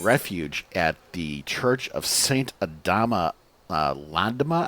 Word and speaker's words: Saint Adama Landama: at the Church of Saint Adama Landama, I believe it's officially called. I usually mispronounce it as Saint Adama Lama.